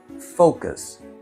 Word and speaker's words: focus: е він неповний, неповноцінний і зовсім невизначений, але він розвантажує наше слово, бо він знаходиться там, де немає наголосу. КС. Звісно, ми тримаємо ритміку слова і там, де наголос, ми на це зважаємо. focus. Focus. От тепер ви можете вимовити це слово як носій мови.